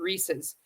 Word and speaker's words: Reese's: Some people might pronounce it Reese's, but the company has clarified that the correct pronunciation is with a zed sound at the end. Reese's. This video explains how to pronounce Reese Reesei. Reese's.